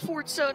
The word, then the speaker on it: Forza: And yes, it's pronounced Forza, not Forza.